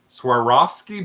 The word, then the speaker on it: Swarovski: this uh SW I never say it right Swarovski bird bath uh it was her mom's and